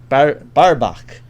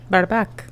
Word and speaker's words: Barbaque: Barbaque. Barbaque.